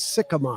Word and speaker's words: Sikkema: say your last name last name is sycamore sycamore see i was going